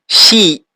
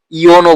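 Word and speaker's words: 四: শি, শি মানে ৪। এখানে আপনারা শিও বলতে পারেন বা ইয়নও বলতে পারেন। ইয়ন। আমার মতে এখানে ইয়ন ব্যবহার করা ভালো।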